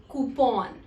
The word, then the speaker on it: coupon: It is also pronounced as coupon, but that's incorrect. So we do not pronounce it as coupon, it is coupon. Here, OU sound substitutes for the sound oo, and PON is pronounced as pawn and not pun, and hence it becomes coupon.